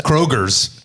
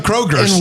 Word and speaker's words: Kroger: There's no S. There is no S. But a lot of people go to Kroger's. Why is it Kroger? But if you take the K away, it's Roger. So, shouldn't it be Kger, right?